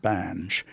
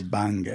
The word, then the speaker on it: Bange: His name was John Bange, or Banga, if you want to pronounce it correctly.